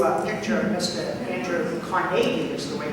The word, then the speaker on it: Carnegie: Andrew Carnegie, is the way to pronounce it.